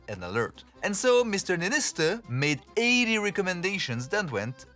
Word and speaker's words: Niinistö: How do you pronounce that? Niinistö. Niinistö.